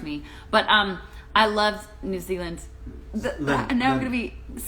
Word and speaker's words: New Zealand: New Zealand.